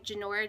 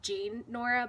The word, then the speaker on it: Jinora: working here it's by jinora Jensen and if you look it looks like it says it's Jane Nora but it's pronounced Jinora she was president of